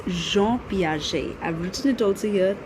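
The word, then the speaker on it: Piaget: that they call or they pronounce his name as Gan Paget okay so it's not that it's Jean Pi I've written it also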